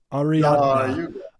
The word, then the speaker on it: Ariadna: I'm gonna get the name wrong. I gotta look it up. Hold on, it's Ariadna.